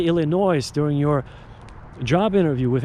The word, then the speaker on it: Illinois: They cannot even pronounce the state of Illinois. They say Illinois, which is absolutely ridiculous.